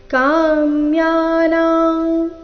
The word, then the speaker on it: ಕಾಮ್ಯಾನಾಂ: ಮೊದಲು ಶ್ರೀ ಭಗವಾನು ವಾಚ ಕಾಮ್ಯಾನಾಂ ಈ ಶಬ್ದದಲ್ಲಿ ಮೂರು ಅಕ್ಷರಗಳು ದೀರ್ಘ ಕಾಮ್ಯಾನಾಂ ಕರ್ಮಣಾನ್ಯಾಸಂ ಮೊದಲನೇ ಚರಣದಲ್ಲಿ